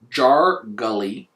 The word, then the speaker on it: Jargolly: Jargolly Jargolly which is like jar garlic minus the C at the end, jargarly.